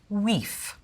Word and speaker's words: wife: sounds like is to take all vowels and pronounce them as you would in French and pronounce every letter. The word for wife would be pronounced weef. The word for house would be pronounced hus. The word knight, knicht.